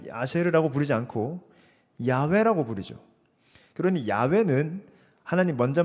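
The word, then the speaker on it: 야훼: 여호와라는 것에 좀 더 정확한 히브리어 발음은 사실 야외입니다. 야외. 왜 여호와가 됐는지도 말하려면 좀 시간이 많이 걸립니다. 근데 그냥 아시면 되겠습니다. 원래 야외가 맞습니다.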